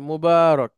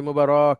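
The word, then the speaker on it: مبارك: ঠিক আছে যে আপনার এটা মোবারক এভাবে একটু লম্বা করে বা লম্বা করে বলা আর আমরা যদি বলি মোবারক তাহলে আবার ভুল সেটা সুন্দর না উচ্চারণটা মবারক শুধুমাত্র মাদ হলেই পড়াশুদ্ধ।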